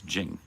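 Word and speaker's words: 經: And Qing is not Qing, it's Jing.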